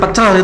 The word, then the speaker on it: pecel: Di sana itu memang kalau kata itu ada penekanan di awal. Pecel ya. It is not pecel.